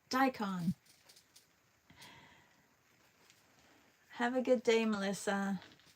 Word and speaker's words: daikon: A daon. Daikon, have a good day, Melissa.